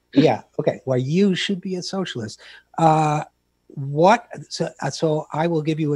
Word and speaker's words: Why You Should Be a Socialist: I am pronouncing that correctly, with the emphasis on the you, right? Yes, the you is big. Yeah, okay. Why You Should Be a Socialist.